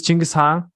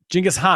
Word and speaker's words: Genghis Khan: So what is the original pronunciation? Genghis Khan.